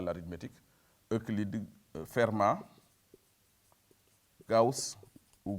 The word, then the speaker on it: Gauss: à l'arithmétique, Euclide, Fermat, Gauss, ou Gauss, comme on prononce à la française, hein, etc.